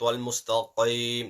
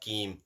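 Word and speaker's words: المستقيم: Ihdina as-sirat wal-mustaqim, not keem, qaim.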